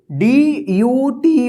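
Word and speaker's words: duty: पे देखते हैं यू का यू या यो उच्चारण तो देखिए यहां पे डी यू टी वाई इसको क्या पढ़ेंगे ड्यूटी एस यू आर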